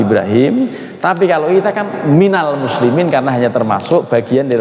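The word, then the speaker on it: مِنَ الْمُسْلِمِينَ: Yang salah wa ana minul muslimin. Nah, jadi kita nggak ada yang minul kan? Nah, bacanya pasti minal gitu.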